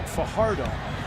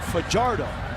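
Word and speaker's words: Fajardo: the world the Wolfpack down by six Cody Pichardo rolling throwing quickly top down by Jericho Richardson out to the 34 yard line now many would pronounce his last name for hard o he pronounces it for jardim he said he does that because as a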